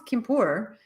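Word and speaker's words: Quimper: it this is the i'm sure it's not pronounced henriott but anriyat anriyat is that how you say it kimpur i know it's kimpur uh it is french there's a little french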